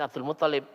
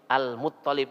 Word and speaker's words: Al-Muttalib: Sanes Abdul Muttalib, Al-Muttalib, Muttalib tok, Al-Muttalib.